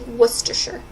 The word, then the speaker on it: Worcestershire: too she it's a it's an English word it's a place in England so they pronounce it strangely Worcestershire well he's on Hibernia